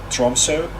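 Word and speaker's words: Tromsø: upfront tip the city center of tromso i believe that's how it's pronounced that o is uh pronounced as o tromso contains uh the highest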